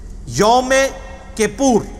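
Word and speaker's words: Yom Kippur: ओ एम के I double P यू आर यमे कपूर इसकी pronunciation बकायदा मैंने उसमें गूगल में जाके सीखी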